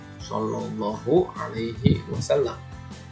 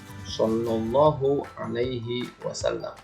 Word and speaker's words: Shallallahu Alaihi Wasallam: Di sini tulisannya SAW. Bacanya itu Shallallahu Alaihi Wasallam. Bapak ulangi. Shallallahu Alaihi Wasallam.